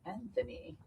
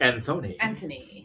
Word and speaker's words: Antony: In English, here in the U.S., it's Anthony. In England, it's Antony.